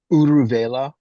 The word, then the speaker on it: Uruvela: How do you pronounce that, Paul? Just the Uruvela. Uruvela, so this is the place where they had meditated together.